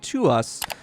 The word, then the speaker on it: TWS: back to my channel to us not twws I forget that I think last time I did just call them twws they're they're they're pronounced to us um with their song